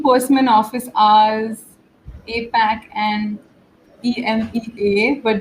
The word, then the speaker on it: EMEA: office hours apac and e-m-e-a but joyce my manager says i can pronounce it as emia i don't know yes